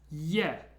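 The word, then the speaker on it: Е: an e in Russian it's pronounced yeah yeah how I like to imagine this is It's almost like an e but there's a little secret y just before it yeah yeah the next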